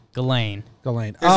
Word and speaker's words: Ghislaine: Picture it as like Elaine with a G. Ghislaine.